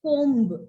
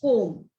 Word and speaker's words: comb: We don't say it comb. It's comb.